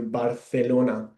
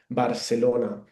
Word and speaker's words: Barcelona: You can see there that the C sound when I pronounce it, it sounds a bit like the TH in English, like thunder. That's why we pronounce here Barcelona.